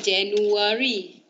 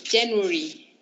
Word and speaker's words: January: Bukan January. It's January.